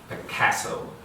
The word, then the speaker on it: Picasso: He pronounced the A like the A in cat, Picasso.